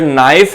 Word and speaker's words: knife: Silent letters वो होते हैं जिनकी साउंड, फॉर एग्जांपल अगर नाइफ है तो KNIFE जो है वो नाइफ की स्पेलिंग होती है, और अगर वो के की जो साउंड है वो नहीं बोली जाती है तो ये साइलेंट लेटर कहलाया जाता है।